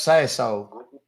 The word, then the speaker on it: Sasohl: It's pronounced Sasso.